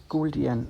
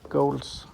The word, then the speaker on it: Gouldian: And a fun fact, the Gouldian finches are actually called Gouldian and not Golds, as it's very common in Denmark to mispronounce.